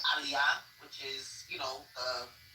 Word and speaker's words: aliyah: there are certain words everybody knows how to pronounce. So instead of saying aliyah which is you know the naturalization process in Israel. She kept saying, um, what did she say? Alia was like, you're not freaking Jewish.